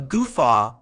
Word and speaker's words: guffaw: sounds like uh fa with the stress on the second syllable meaning as a noun a goofa refers to a loud